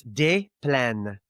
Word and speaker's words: Des Plaines: Now, the correct pronunciation would be des. So you don't pronounce the S. Des Plaines.